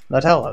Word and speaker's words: Nutella: What am I saying wrong? Nutella. Nutella, that's how you pronounce it.